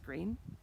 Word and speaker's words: Greene: Greene, that's Greene with a silent E at the end, discovered that they were expecting a baby girl.